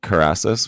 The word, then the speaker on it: Kerasus: don't know if you do you call it karasis wine that's like the brand name yeah it